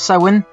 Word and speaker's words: Samhain: Back then though, the ancient Celts, they called it Samhain, which looks like Samhain but it's pronounced Samhain, and basically that's a celebration where they lit